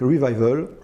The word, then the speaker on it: Revival: une marque française alors j'ai demandé à la marque s'il fallait prononcer à avec l'accent anglais ou l'accent français on m'a répondu l'accent anglais donc revival donc voici les ataland